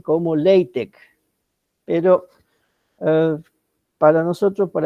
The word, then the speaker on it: LaTeX: vamos a seguir llamando látex Aunque en la pronunciación adecuada sería la pronunciación adecuada sería lc qué es esto es